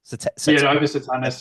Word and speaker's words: Opus Satanas: what's the OPA satanis op satanis yeah I'm pretty sure it's pronounced like that op satanis satanis whatever